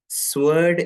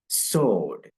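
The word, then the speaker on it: sword: വേർഡ് നിങ്ങൾ പൊതുവെ ഉച്ചരിക്കാറുള്ളത് സ്വേർഡ് എന്നായിരിക്കും ശരിയല്ലേ സ്വേർഡ് ബട്ട് ഇത് സ്വേർഡ് എന്നല്ല യുകെ ബ്രിട്ടീഷ് ഇംഗ്ലീഷ് ഉച്ചാരണ നിയമപ്രകാരം ഇത് സോഡ് സോഡ് ഇവിടെ ഡബ്ല്യു നിങ്ങൾ ഇല്ല എന്ന് വിചാരിക്കൂ ഡബ്ല്യു സൈലന്റ് ആണ് അല്ലെങ്കിൽ ഡബ്ല്യു നിങ്ങള് സ്ട്രെസ്സ്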